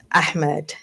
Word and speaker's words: Ahmed: Ahmed. Ahmed. See? You You gotta say do- H has to be it's not silence. And Americans say Ahmed, which is H is silence.